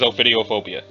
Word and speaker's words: ophidiophobia: is the thing that tells me how to pronounce it okay cool I had it right it is ophidiophobia and then it says data expunged analysis indicates